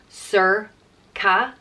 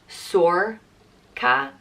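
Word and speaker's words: Sorcha: bright or shining and there's a few different ways you can pronounce this and it's really dependent on where in Ireland you are we have four different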